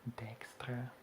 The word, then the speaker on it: Dijkstra: Okay, and there is definitely more time for Dijkstra, or Dijkstra, as it's pronounced in Dutch.